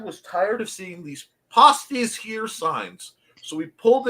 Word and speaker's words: pasties: No, in the Upper Peninsula of Michigan, the word pasties, and it's pronounced like that, is spelled like that, and it is a rather hard to describe.